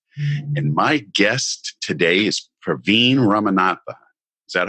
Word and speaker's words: Praveen Ramanathan: nurse Mark podcast and my guest today is Praveen ramanatha is that how you say it yes yes